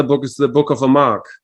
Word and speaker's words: Amarque: And you pronounce it Amarque or Amarque? Amarque.